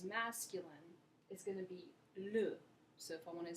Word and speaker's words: les: If there's more than one thing, if it's plural, you're going to use les, spelled L-E-S, pronounced les.